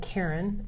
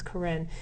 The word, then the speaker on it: Karen: Karen is the language, spelled like Karen, it looks like, but it's Karen.